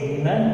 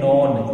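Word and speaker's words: none: और एक बात ध्यान रख लीजिए, ये जो वर्ड है कुछ स्टूडेंट्स इसको रॉन्गली प्रोनाउंस करते हैं। कैसे, कुछ स्टूडेंट्स इसे बोलते हैं नॉन, क्या बोलते हैं इसे, नॉन, तो दैट इज नॉट नॉन, ये नॉन नहीं है, ये है नन।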